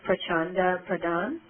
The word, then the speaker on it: Prachanda Pradhan: I just want to double check the pronunciation of your name. It's Prachanda Pradhan?